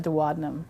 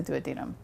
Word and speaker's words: duodenum: Some people like to call it the duodenum, but the real right way to say it is the duodenum.